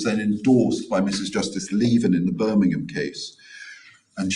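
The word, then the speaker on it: Lieven: Is it Leven?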